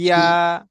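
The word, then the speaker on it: ياء: ইয়া। দেখবেন আপনি উচ্চারণ করবেন জিম, সিন, ইয়া, জিম, শিন, ইয়া।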